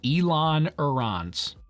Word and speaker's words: ailerons: I'm saying ailerons. Like Elon Musk.